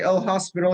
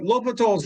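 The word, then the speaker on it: L'Hôpital: forms and l'hopital's rule it's written as l apostrophe hospital but don't write read it like that he's a french mathematician if you say l hospital your next professor will really give you the eye it's l'hopital although i cannot write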